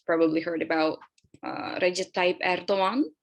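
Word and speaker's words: Erdoğan: I know you guys have probably heard about Recep Tayyip Erdogan. We say the G, soft G. We don't say Erdogan.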